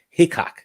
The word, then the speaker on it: Hickok: Don't say Hitch. I call him Hitchcock 45. People were talking smack. I got like 10 messages. Pronounce his name right, bro. Sorry. I was like, dang, my bad. It's Hickok, not Hitch.